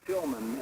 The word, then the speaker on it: Tillman: Yeah, it's pronounced Tillman, and yes, for some reason everybody seems to think I'm saying radio at the end of that.